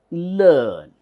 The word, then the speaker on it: learn: it is Stir so this is learn EA it is not lay or layer it is learn so these are things